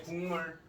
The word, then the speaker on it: 국물: 네, 국물. 자, 똑같이 써봅시다. 네, 기역과 미음이 만나서 뭐가 기역이 뭘로? 예, 이응으로 발음이 바뀌었어요. 자, 기역이 이응으로 바뀌었죠. 미음의 영향을 받아서.